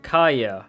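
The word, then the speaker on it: Kaeya: okay all right so y'all been telling me that his name is pronounced kaya so sorry for butchering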